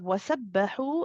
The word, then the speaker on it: وسبحوا: Again, this ha is from the middle of the throat to the region of the epiglottis, same region as the ain. And this time we do feel tension in the throat. It is slightly tense, and we do feel the breath coming through.